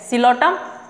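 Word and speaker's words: Psilotum: इसमें एग्जाम्पल याद रखना, सिलोटम, P silent सिलोटम, Lycopsida में लाइकोपोडियम, ऑल्सो सिलेजिनेला.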